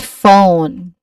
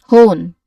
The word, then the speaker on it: phone: The F sound is produced by the combination of letters P and H which is a consonant cluster. If you were to pronounce each letter individually, you might say pone, right? which is not correct obviously. Instead the ph together acts as a single unit to create that do that familiar f sound.